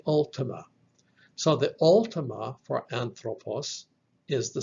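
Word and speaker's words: ἄνθρωπος: the study of man three syllables on throw and puss so when we talk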